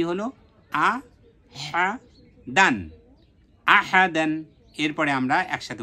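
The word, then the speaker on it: أحدًا: আলিফ দুই জবর দান দাল আলিফ দুই জবর দান তাহলে কি হলো আহা দান আহাদান এরপরে আমরা একসাথে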